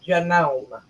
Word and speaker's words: Janome: out of this okay it is actually pronounced Janome jome okay glena said